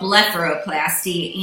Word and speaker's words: blepharoplasty: book bara collapse tea I always think of farro in the middle of it to say it right but it's called letter O plasti and as you can